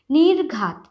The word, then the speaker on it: নির্ঘাত: নির্ঘাত, নির্ঘাত, ঘয় রেফ যেহেতু আছে তাই নয় রশ্মির পরে একটা রয়ের উচ্চারণ, নির্ঘাত।